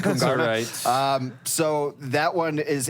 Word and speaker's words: Kungarna: possibly lose to k kungarna um I was pronounced it's supposed to be pronounced kyana sorry I'm American I'm G to call it Kung um so that one